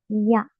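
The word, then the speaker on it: や: diagonal hacia abajo también la pronunciación es ya ya si les cuesta la pronunciación pueden imaginar una I invisible en el medio ia I a es como si dijéramos I a i a ya ya como para decir Inteligencia artificial yaa y como vocabularia tenemos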